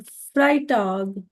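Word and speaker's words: Freitag: told the वे I pronounce you have to pronounce in the same way then फ्राइटग इज़ फ्राइडे then जामटाग is Saturday and ज़ोंटाग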